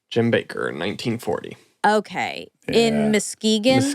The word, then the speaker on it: Muskegon: Muskegon, yeah.